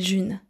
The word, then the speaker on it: June: Je m'appelle June. Ça se prononce à la française, hein. Pas de June, attention.